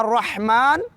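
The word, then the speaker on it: الرحمن: है उसके बाद है अ रहमान की हा को मिडल ऑफ थट य नि वास हलक से अदा करते हुए हा पढ़ेंगे बिस्मिल्ला र र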